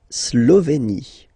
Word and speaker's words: Slovénie: La Slovénie. Remember, you get this accent aigu here, it's E. Slovénie. Final as usual, not pronounced.